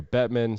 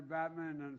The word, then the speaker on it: Bettman: The Tampa Bay Lightning visiting the White House, and Joe Biden mispronounces the name of the commissioner, Gary Bettman. Say president. Who is that guy? I want to thank Commissioner Gary Batman and Watch the background.